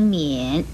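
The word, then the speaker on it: 丏: 跟盖字很容易弄混的是这一个免字，免字的国语注音是摸言免三声免，免是不见的意思。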